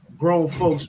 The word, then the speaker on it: GRXWNFXLKS: We're going to talk about grown folks music, you know what I'm saying? And it's pronounced GRXWNFXLKS. That's grown folks.